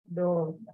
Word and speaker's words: door: Door. Door. Door. Yeah, door. Okay, so you see otra palabra que tiene doble O y no suena como U.